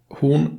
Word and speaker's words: Horn: little more open mouth in Swedish we usually say it with a somewhat more closed mouth and maybe with the small pout the name should therefore be pronounced Klaus hoon in Swedish moving on